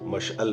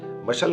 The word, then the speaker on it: मशाल: मशाल का मतलब कहते हैं मशाल। पोएट्री के वर्ड में थोड़ा सा डिफरेंट टाइप से इसको प्रोनाउंसिएशन किया जाता है। इसलिए इस तरीके से मैं भी बोल रहा हूं।